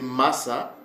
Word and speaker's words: Massa: à au législateur Moïse c'était Massa ok son nom c'est Massa c'est ok il s'appelait Massa euh c'est ça la bonne prononciation qui signifie tirer de